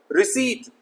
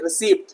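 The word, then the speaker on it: receipt: रिसीट ना के रिसीप्ट, ज्यादातर लोग इसको रिसीप्ट बोलते हैं। रिसीप्ट दे दीजिए, रिसीप्ट दे दीजिए, गलत है मेरे प्यारे बच्चों। It's only रिसीट, Rashid.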